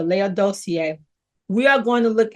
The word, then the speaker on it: Laodicea: I'm going to pronounce this word as I was told by a minister Laodicea.